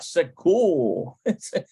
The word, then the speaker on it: סגור: Segul. It's like there's not, it's not the R sound. It's almost like a rolling. Segul. And it melds into the whole hymn. Segul.